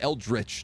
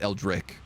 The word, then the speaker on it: eldritch: It's Eldritch. Yeah, Eldritch, not Eldrick.